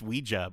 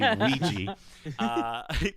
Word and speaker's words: Ouija: Teen picks up a Ouija board, which you'd think would be pronounced Ouija when you read it, but it's actually Ouija.